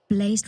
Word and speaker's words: Blaze: Blazed Radio is a legend. They donated $5 via a super chat. Finally, Days will pronounce my name correctly. Haha, Blaze like Days, your boy Blaze here.